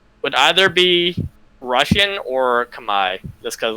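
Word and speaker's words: Khmer: cambodian you said it's called kamai my yes it's like k-h-m-e-r that's how it's spelled and then i'll probably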